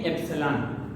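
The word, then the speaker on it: epsilon: का जो साइन है इसको हम कहते हैं एप्सिलॉन। ठीक है, एप्सिलॉन हम इसको प्रोनाउंस करते हैं।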